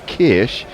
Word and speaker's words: Kirsch: And Leah, on the very same subject, says the SCH in German is pronounced like sh in English. CH in German is pronounced like you did.